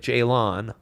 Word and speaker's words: Jalon: Jalen Daniels, spelled with an O, like Jalon.